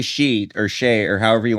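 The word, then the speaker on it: Sidhe: The pronunciation of this city is shikha. The word is of Irish origin that refers to the fairy folk. The spelling can be confused, but it refers to a long E sound at the end, similar Wait. to an English word I she. don't. So it's just she.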